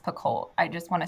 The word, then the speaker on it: Picoult: things by jod PCO I think her last name is pronounced pult I just want to